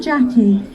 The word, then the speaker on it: Jacqui: where it originates so i'm jackie and my name is spelt j a c q ui we start off with